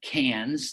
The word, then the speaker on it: Cairns: For example, the first four nights are spent up in Cairns - that's spelled C-A-I-R-N-S - that's a bucket list destination for many students.